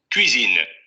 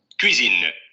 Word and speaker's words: cuisine: Vean ahí cómo esa semiconsonante está mucho más marcada que en el audio del diccionario.